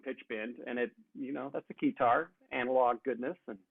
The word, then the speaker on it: Keytar: Well, I mean, there'll be a heavy focus on Keytar, because it rhymes with guitar.